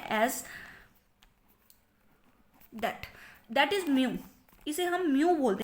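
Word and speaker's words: mu: Mean तब लिखा जाता है एज दैट इज म्यू. इसे हम म्यू बोलते हैं. इसकी जो प्रोनाउंसिएशन है वो है म्यू.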